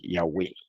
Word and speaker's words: Yahweh: La misma pregunta, el rabino yemenita le hubiera dicho, no, como se dice es Yahweh, ¿verdad? Porque ellos lo pronuncian como se pronunciaba antiguamente el hebreo.